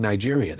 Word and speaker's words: Nigerian: I was like, and so I thought they were mispronouncing Nigerian. I didn't know. Nah, I said, there's only one G. The G is soft.